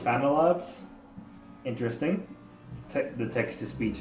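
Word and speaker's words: FanaLab: a n a labs it doesn't understand that it's pronounced phantylabs interesting the text to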